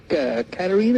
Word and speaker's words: Katarina: And I have a question for Katarina.